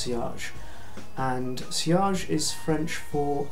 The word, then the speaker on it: sillage: is a French word to look at it you would think that it was pronounced silage but it's not it's pronounced sage and cage is French